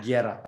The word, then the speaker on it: Guerra: You don't pronounce the U. Okay. Yeah. Guerra.